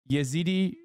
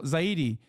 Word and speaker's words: Zaidi: Zaidi, not Yazidi. Sorry. Not Yazidi. They are Zaidi.